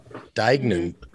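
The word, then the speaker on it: Deignan: this pronunciation right because this one she throws you off with this this hard g in the middle uh lizzy dagnan just like rolling up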